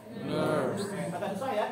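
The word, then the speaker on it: NURBS: N U R B. S. Dibacanya Nerves.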